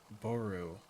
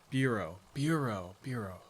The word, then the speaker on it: bureau: Boru. Bureau. Oh my god, that's how you pronounce it.